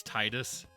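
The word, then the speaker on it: Tidus: should you now that we're talking about name pronunciations wasn't it officially confirmed that Final Fantasy 10 it's Titus yes yes hi so yes Chris is an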